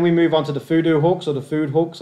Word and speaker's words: Fudo: Then we move on to the FUDO hooks, or the food hooks. I've heard this pronounced so many different ways, but I believe it should be FUDO.